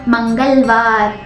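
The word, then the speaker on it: मंगलवार: atau bahasa Hindi itu manggal war manggal war manggal war tulisannya itu mangal mangal tapi dibacanya manggal manggal ng di sini dibaca dengan ge bukan ng Oke manggal rabu dalam bahasa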